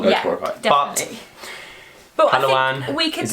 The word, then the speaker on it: Palawan: We go Palawan.